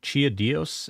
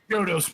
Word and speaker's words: Chiodos: Chia Dios, is that how you pronounce that? Yodos, bro. Get it right.